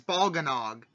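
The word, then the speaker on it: Bolganone: we know how to pronounce it because it's in Warriors. Lind uses it and says Balganog.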